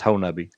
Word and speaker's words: Honobia: The town is Honobia, pronounced Honubby.